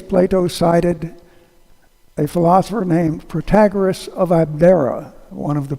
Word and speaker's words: Protagoras: Germans, French, English, although the English pronounce his name Protagoras, but that's because they put the emphasis on a different syllable.